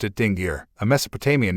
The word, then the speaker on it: Dingir: She pronounced it Dingir, a Mesopotamian name for the Anunnaki that translates as the righteous ones of the blazing rockets. Pronouncing it Dingir, He said it was a bad word because